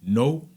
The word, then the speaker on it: know: common word yeah like the K is silent we didn't I didn't knew that you know I said Cano you know weird right